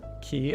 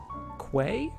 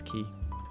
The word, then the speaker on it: quay: we've moved past you just realized key is pronounced key oh yeah a lot of people uh don't